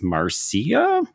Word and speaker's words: Marcia: because um not just the way that we're pronouncing Marsha apparently in Australia Dan it's Marcia question I was surprised by